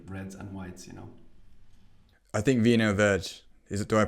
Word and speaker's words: Vinho Verde: I think Vinho Verde. Do I pronounce that properly? Vinho Verde. Yeah. Vinho Verde.